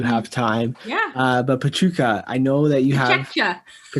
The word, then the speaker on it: Pecha Kucha: i haven't heard um this is spelled and how it's spelt p e c h a k u c h a yeah yeah it looks like pecha kucha which is what i was calling it for a long time until the organizers in